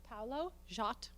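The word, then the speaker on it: Paulo Szot: star was on facebook his name paulo jot that's how we say it right s with a z he is such a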